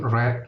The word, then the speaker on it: read: to work late six I haven read nah ini bacanya red ya I haven read much